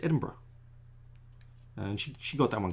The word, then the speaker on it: Edinburgh: You don't say borough, you just slur it all together. It's bruh, which is a very common thing now in America. It's Edinburgh, and she got that one quick.